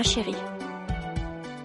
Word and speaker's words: chérie: revoir, ma chérie.